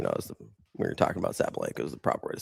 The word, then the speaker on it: Sabalenka: Well, you know, we were talking about Sabalenka is the proper way to say it.